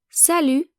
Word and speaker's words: salut: So if a friend comes to visit you, you can either say salut, salut, the T is silent, or coucou, coucou.